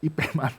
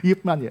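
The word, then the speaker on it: Ip Man: Kalau kalau kita bacanya IPAN tapi itu Yipman ya.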